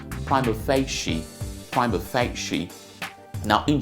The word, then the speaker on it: prima facie: on the surface okay it is not from a fascia it is prima facie prime effect sheet now